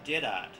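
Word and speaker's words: Jeddart: town and it seems the locals frequently pronounce it as Jed art jedra was made a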